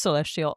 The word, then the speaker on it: CLSTL: Anyways, it's just, you know, good vibes and yeah, so I know that the the letters because there's no vowels in your name. It's pronounced celestial.